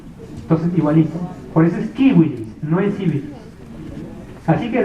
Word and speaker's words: civilis: En latín igual, no es corpus juris civilis, es corpus juris civilis. ¿Por qué esto? Porque la C para los latinos, para los romanos se pronunciaba como K de kilo, y la U era,